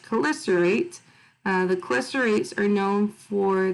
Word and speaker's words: chelicerate: So it looks weird, but it's pronounced chelicerate.